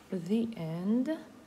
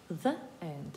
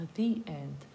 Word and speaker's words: the: Але ви чуєте, що я кажу не the end, а the end. І це так є, що якщо ми маємо визначений артикль, а потім слово починається на голосну, у вимові у нас і, а не е, і не е, шуа.